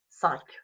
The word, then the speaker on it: cinq: Cinq, the K sound. I know it's spelled like a Q, but you pronounce it cinq.